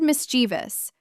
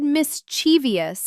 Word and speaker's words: mischievous: The word mischievous. I said mischievous until I was like 24 years old. 4 syllables. Completely wrong.